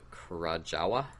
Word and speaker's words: Krajowa: So they introduced the Armana Krajowa. W's or V's in Polish.